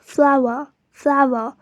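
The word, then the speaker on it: flower: The one on the top is a plant and is pronounced as Fla-wr, and the one on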